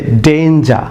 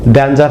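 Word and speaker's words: danger: যেমন লক্ষণ যে ডেঞ্জার, অনেকে এটিকে ড্যাঞ্জার প্রনাউন্স করেন, DANG ড্যাঞ্জার, অনেক প্রনাউন্স করি সম্পূর্ণ রং প্রনাউন্সিয়েশন, ব্রিটিশ উচ্চারণ হচ্ছে ডেঞ্জার।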